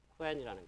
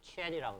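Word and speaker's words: Qwen: 그래서 요즘은 뭐 라마라든가 발음이 쿠엔이 아니고 사실은 중국어 하는 분들은 쿠엔이 아니고 치엔이라고 그러더라고요.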